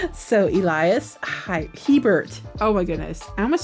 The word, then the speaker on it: Hebert: I have been saying it wrong for years. I'll just put it out there. I have. I've been saying Hybert. So Elias Hebert.